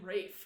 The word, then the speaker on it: Ralph: So they say Rafe Fiennes.